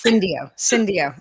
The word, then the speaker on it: Syndio: Senior Director, Total Reward Strategy and Solutions at Syndio. Wait, I'm totally pronouncing it wrong because I didn't totally fine. It's Syndio.